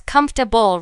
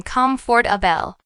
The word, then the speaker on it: comfortable: in textbooks like example take the word comfortable many native speakers pronounce it as comfortable rather than Comfort AEL practicing the natural rhythms